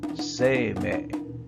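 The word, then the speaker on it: 晴明: But if you give them their classical, Chinese-influenced reading, they would be pronounced Sei-mei.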